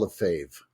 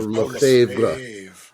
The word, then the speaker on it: Lefebvre: lot of French words, it has a lot more letters than it really needs to have, and a lot more letters than they pronounce.